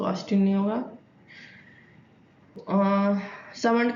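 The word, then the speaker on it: Salmond: सो Austin नहीं होगा सामंड का हमने पढ़ा था इसमें इनके वाले में एल साइलेंट है मेरे मुंह से बार-बार ल निकल जाता है ठीक है सामंड था सामंड वाले में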